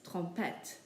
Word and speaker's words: trompette: The next word, trompette, ends with an E, so we pronounce the T's, trompette.